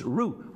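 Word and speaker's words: Roux: And they spell it, it's not root, it's root, R-O-U-X.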